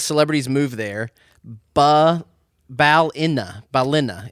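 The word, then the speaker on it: Ballina: Balina is how she said to pronounce it.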